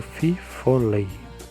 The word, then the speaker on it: fifolet: Na Louisiana, onde é mais famoso, é chamado de fifolet. pronunciado fifolei.